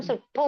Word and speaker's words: सुट्ठु: और ठ डबल है, इसलिए हम सुट्ठू बोलते हैं, सुठू नहीं बोलते हैं।